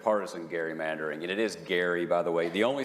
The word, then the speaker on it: Gerry: They basically declared that partisan gerrymandering, and it is Gary, by the way.